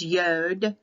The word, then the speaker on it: yod: catholic roman translation so in the hebrew translation to english it's yod yod y o d